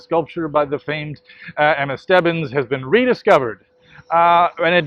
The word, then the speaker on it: Stebbins: Stebbins, I finally figured out how to pronounce it, who sculpted the angel, the statue in Bethesda Fountain in Central Park.